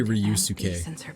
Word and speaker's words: Ryusuke: It's so weird to hear them say Ryusuke. Because whenever I see like S-U-K-E, I assume that it's supposed to be pronounced like Ske. Sounds Like Sasuke.